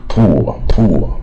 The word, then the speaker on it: poor: 念到乌的音啊，poor 啊，它是也是带耳